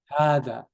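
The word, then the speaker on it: هذا: In the Mus'haf, you will see like a standing alif written on it, right? So you know to make it longer. Hada, okay?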